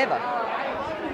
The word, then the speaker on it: Eva: Yeah, Eva. Wow, I thought I might be able to trick you because a lot of people think it's Eva because it's spelled EVA, but you actually even know the pronunciation.